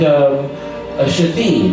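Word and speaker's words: Shithead: Like a kid named Shahid, I think. Only the problem is it's spelled S-H-I-T-H-E-A-D.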